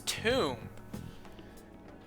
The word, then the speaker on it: tomb: i remember now it's tomb there it is tomb you think that's it try entering tomb why is there a silent b at the end of two we got it was